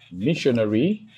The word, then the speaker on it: missionary: And the essence of this rule is to indicate that most English words that ends with the suffix ary, right, take their stress on the antepenultimate syllable.